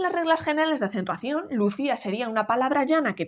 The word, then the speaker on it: Lucía: o si yo sé por esta palabra en sílabas y digo vale es que yo digo lucia no digo en lucía minucia entonces aquí en